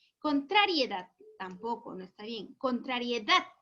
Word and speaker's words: contrariedad: tampoco no está bien contrariedad ahora si mi hija ahora si suena bien por lo tanto la sílaba tónica está en la última sílaba correcto ahora para esto